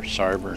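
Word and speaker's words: Sárvár: foreign probably the Hungarian pronunciation is different but your hometown was spelled s-a-r-v-a-r Sarver I could not face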